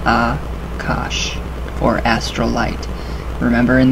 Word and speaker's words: Akasha: is also known by the Sanskrit term Akasha correct pronunciation is a cosh or astral light remember